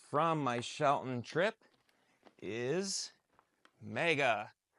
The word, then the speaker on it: Mega: And last item from my Shelton trip is Mega. This is, or MAGA, however you want to pronounce it. I say Mega.